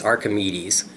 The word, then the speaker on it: Archimedes: Walker aramed uh I I like the way you pronounce Archimedes or however you said it but it's Archimedes that that's how I know how to pronounce it so you're forgiven